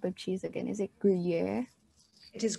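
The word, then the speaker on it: Gruyère: So Anjali, how do you pronounce this type of cheese again? Is it Gruyere? It is Gruyere.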